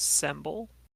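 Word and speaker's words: Semble: got any names pronouns um my name is symbol s-e-m-b-l-e oh pronounced day then nice and bun the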